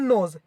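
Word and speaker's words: knows: नो वन नोज, यहाँ भी एन से नो निकला है, लेकिन यहाँ के साइलेंट है इसलिए इसका मीनिंग भी नोज निकल रहा है, मतलब साउंड सेम निकल रहा है।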